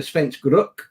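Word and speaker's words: Svensk Rök: think about the Rook, the Svensk Rook, because that is the proper way of pronouncing it, of course.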